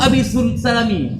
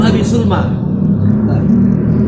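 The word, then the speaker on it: أبي سلمى: Mahasiswa ketika suruh baca Zuhair ibnu Abi Salami, kata seperti Ibu Salami, betul. Bukan seperti ini tulisannya. Ini bacanya Zuhair ibnu Abi Sulma.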